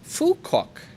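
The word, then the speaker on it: Phú Quốc: tip puck is pronounced fukuok here we don't pronounce ph as a p like thais do we pronounce it as f so my name sounds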